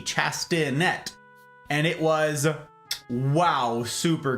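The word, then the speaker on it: chastinet: that's what it's called chastanet I knew it started with a c but it's not a C Sound c h a s t i n e t chastanet and it was wow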